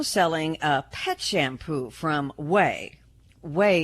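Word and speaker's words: Ouai: a pet shampoo from wey wey is spelled by the way o u AI hair care products the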